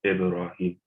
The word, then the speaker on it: Ibrahim: So you have a ba with a sukun on it, so it's always pronounced Ibrahim.